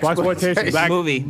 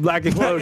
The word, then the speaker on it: blaxploitation: Blaxploitation. Black explosion. Exploitation, but it's blaxploitation. I'm pretty sure that's how it's said.